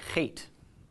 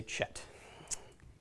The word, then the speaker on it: Het: ape letter is the hate now hate has an unfortunate spelling you see that you want to say Chet and it is not Chet and in fact any